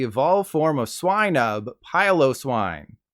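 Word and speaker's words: Piloswine: swine up pylose wine there's a decent number of you who pronounce it as pillow swine likely because you want to sleep on its comfy looking fur but you should have been thinking of piling on top of it and trying not to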